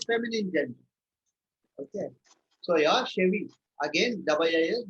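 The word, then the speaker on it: cheveux: So pronounced as Chevy. Okay. Double I, yeah. CH is pronounced as S and double I, E, or double I, you can say, is not spoken here.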